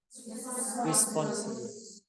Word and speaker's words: responsibility: You notice that I have pressure in syllable? Like how you say responsibilities? Responsibility. I say Responsibilities. So there is one syllable that I have a pressure on.